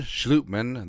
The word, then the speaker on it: Schlottmann: resigning offensive lineman Austin saluteman it's a Dutch pronunciation per Source a schlutman started four